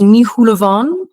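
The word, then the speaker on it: Ní Shúilleabháin: Entonces, sí, hasta mi nombre es Nihulovan, se pronuncia.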